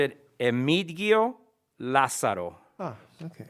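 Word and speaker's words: Emigdio Lazaro: name l a z a r o you pronounced it emitigio la saro ah okay correct you got it thank you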